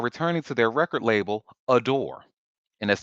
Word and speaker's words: ADOR: Hmm So it says after a long legal battle, all five New Jeans members are returning to their record label, Adore, and that's spelled ADOR.